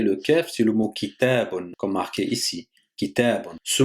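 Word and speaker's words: كتاب: Donc on revient à notre mot kitabun. Donc on a dit qu'il va se prononcer sur 300. On a d'abord ki, après ta, après bonne, ça fait kitabun.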